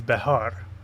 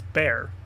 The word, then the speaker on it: Bexar: proper way to say it is behar. But in English it's bear.